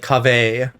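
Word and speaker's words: Kaveh: you say his name it's not cover it's like cave it's it's not leviosis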